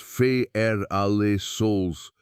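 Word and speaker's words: Ferralsols: Strip away the canopy, and you are left with dirt that farmers call feral souls, pronounced fa alle souls, red and orange earth so lacking in nutrients that a cleared field goes barren within a few short seasons.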